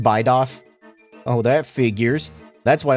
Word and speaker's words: Bidoof: Yeah, and he's pronounced Bidoff.